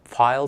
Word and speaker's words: Pfeil: In the United States, it's pronounced file tools, and so they are really nice tools.